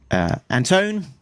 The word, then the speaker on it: Antone: Brousseau, and editor Alex Antone. Antone, rhymes with phone, get it right.